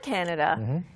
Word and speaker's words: candidate: Yeah, there's a couple of pronunciations. Not candidate. You're taking candy on a date. 네. But there's candidate, where you don't even hear the D. Candidate or candidate. 오케이. Yeah. 그래서 candidate라고 발음하는 사람도 있고요. candidate. 그러니까 D-I-T처럼 발음하는 사람도 있고. And some people just take out the D.